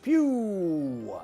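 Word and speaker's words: Pugh: Ray P-U-G-H, Pew.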